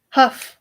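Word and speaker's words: hough: i guess i want to see how to pronounce it because i need to learn things let's find out together huff okay why does the o-u-g-h have so many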